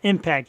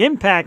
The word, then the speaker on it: EMPKT: Impact, spelled EMPKT, pronounced Impact. Jewel had it right all along. She actually messaged me and said, just so you know, it's pronounced like Impact.